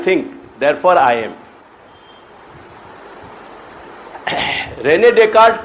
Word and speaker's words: Descartes: वो स्पेलिंग वह की डेकार्टीज जैसे आवे, पर वह को उच्चारण डेकार्ट की हो जाए, DESCARTES, डेकार्ट।